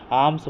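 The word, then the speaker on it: alms: आर्म्स बोलते हैं इसको, एल जो है सो साइलेंट है।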